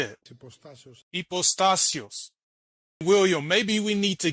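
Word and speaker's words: ὑποστάσεως: He's also pronouncing the last part of the word wrong. There's no stress mark over the epsilon. It's called tonos. The letter that looks like an E, there's no stress mark on top of it. So he's pronouncing that wrong too.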